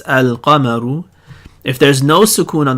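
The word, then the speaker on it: القمر: If you see the notation looks like al-qamaru, where you have a sukoon on the lam and no shadda on the next letter, then you pronounce it like this, al-qamaru.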